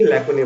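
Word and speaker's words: lacunae: लैकुने का क्या मतलब होता है? इसकी प्रोनाउंसिएशन देखिए, लैकुने।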